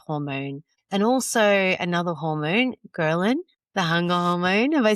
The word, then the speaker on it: ghrelin: And also another hormone, ghrelin, the hunger hormone.